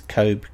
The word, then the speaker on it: Cobh: Cobh? Yeah, as in C-O-V-E.